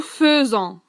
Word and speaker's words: faisons: Alors, que l'on écrit faisons, nous faisons, et que l'on prononce nous faisons.